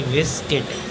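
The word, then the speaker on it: biscuit: पढ़ेंगे गर्ड अगला है बी यू एस सी यू आई टी तो यू के बाद आई एक स्वर है इसी यू साइलेंट इसको पढ़ेंगे बिस्किट अगला है डब्लू साइलेंट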